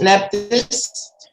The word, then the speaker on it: Nephthys: Nephthys is Nephthys.